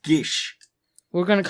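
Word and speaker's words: Geas: once each day oh apparently just dry from Irish so it's actually supposed to be pronounced Gish we're going to call it geese it's still geese sorry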